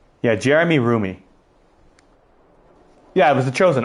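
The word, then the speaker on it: Roumie: I always mispronounce his last name. Roomie." Yeah, Jeremy Roomie.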